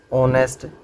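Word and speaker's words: honest: For example blank ऑनेस्ट मैन, तो देखो अपनी स्पेलिंग तो एच तक है। एच तो क्या है? कॉन्सोनेंट है अपना। अब कॉन्सोनेंट ने देखिए ए आना चाहिए, पर इसका प्रोनाउंसिएशन क्या बोलेंगे यहाँ पे? ऑनेस्ट।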